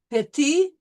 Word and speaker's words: petit: Petit, so we will not pronounce the T.